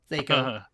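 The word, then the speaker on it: THAC0: That's how it should be pronounced. Fucking fight me. Thaco.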